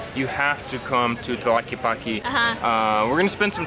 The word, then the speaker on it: Tlaquepaque: If nothing else, just to learn how to say Tlaquepaque. And the TL is because strange. In Spanish it's tla, and in English it's tla.